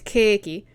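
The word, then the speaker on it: ケーキ: or may not be some form of katakana pronunciation of it. Like cake, the food, is keiki.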